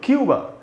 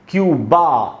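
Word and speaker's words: Cuba: तो इसमें यू में जो ऊ है वहाँ पर ज़्यादा स्ट्रेस है, और ब के बाद आधा अ है, क्योंकि ये ए से खत्म हो रहा है, इसलिए इसको भी क्यूबा ऐसा नहीं पढ़ेंगे। इंग्लिश में की बात कर रहा हूं मैं, इंग्लिश में इसको पढ़ेंगे क्यूब, क्यूब।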